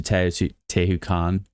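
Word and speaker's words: Teotihuacan: I literally was I have I have been to Teu Te Tahu Khan.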